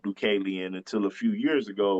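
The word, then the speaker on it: Deucalion: um named dualan I didn't know it was pronounced dualan until a few years ago when my brother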